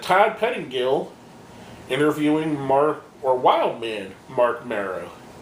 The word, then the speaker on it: Marrow: We had Todd Pettingill interviewing Wildman Mark Marrow. Pettingill calls him Mark Mara, which is kind of a weird thing that he mispronounced his real name.